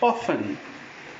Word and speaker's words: often: varies not often it's often T is again silent then we have this